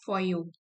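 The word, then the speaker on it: Foyot: Eight फॉयो, इसकी pronunciation है फॉयो।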